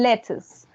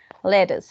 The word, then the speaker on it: lettuce: Or you can say, guys, if you prefer American English, you can say lettuce. Como si en vez de pronunciar la T hicieran una D en American English. Más que lettuce sería lettuce. So lettuce or British English, lettuce.